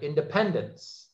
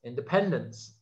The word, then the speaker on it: independence: And the stress is here on this third syllable, right? Independence, independence. So the thing, just as that's an example to understand, words by themselves have a stressed syllable.